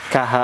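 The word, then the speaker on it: خ: A a tapi bacanya bukan kaha bukan bukan keha tapi dia ko bacanya gimana? K tulisannya K ha a. Iya, karena memang perwakilan untuk ke Indonesianya agak susah. Nulis dari latihnya agak susah. Sehingga cukup gini nanti yang jelas ditalkin ya dilatih untuk membacanya ko seperti seseorang mendengkur. Kh.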